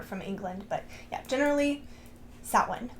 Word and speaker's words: Samhain: Halloween 2 lied to you it is not pronounced Sam Hae if I hear you pronouncing it Sam ha